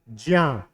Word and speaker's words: ज्ञ: इसका सही उच्चारण क्या है, स्थान सही उच्चारण क्या है इसका, ज्या। क्या बोला जाता है, ज्या, ज्या। क्या बोला जाता है, ज्या। आधा जा है और इया है, ठीक है।